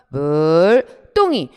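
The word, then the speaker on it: 물동이: 물과 동이. 발음하세요. 시작. 물, 똥이. 앞말이 울림소리고 뒷글자가 예사소리인데 원래 없던 된소리가 들어온 사이소리 현상이 아닙니까?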